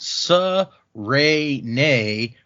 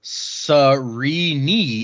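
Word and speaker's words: Sarene: princess uh it says that her name is pronounced sa rey nay or surrey knee if you want to get technical i was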